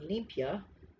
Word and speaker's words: limpia: asked the definition of limpia okay that's how you say it olympia in spanish the definition of this